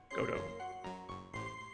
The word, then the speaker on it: Godot: I'm gonna call him Godot, because that's what Google said. He even had the pronunciation things with it, too.